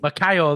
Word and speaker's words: Moicano: And then, Mark, closing the early prelims, we have Jalin Turner versus Moicano. Is it Moicano? How do you say his name? Makayo, I think. Macayo, that's it.